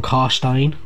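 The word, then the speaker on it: Carstein: you know neferata manfred from karstein uh which you'd pronounce stein as in pine uh and a lot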